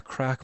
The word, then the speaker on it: craic: Paul adds in here, crack means having a good time in Ireland. Yeah, that's spelled Craic actually. What you spelled is a crack on the floor.